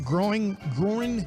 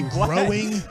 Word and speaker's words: groin: If Trent Williams can't come back from the groin injury, I always hate that word. 'Cause I always say growing, but it's groin if I'm trying to say it right.